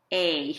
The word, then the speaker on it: e: Now in Spanish, the letter E is called A. It's confusing. The letter A is A in Spanish, and the letter E is A, because that's how you pronounce words with an E in it.